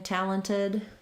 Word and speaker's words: talented: sound quite quite right if we do make a change in talented it's that we just leave that t off entirely and it sounds like talented talented he's very talented um